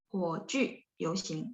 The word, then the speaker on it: 火炬: 火炬游行 JU bacanya mulutnya dibulatin ya.